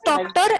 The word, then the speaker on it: Tochter: How will you pronounce doctor as doctor? Instead of do, you will pronounce to.